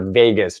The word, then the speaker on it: vagus: 10 which is your vagus nerve it's spelled VA GU s not like Las Vegas but like vamoose in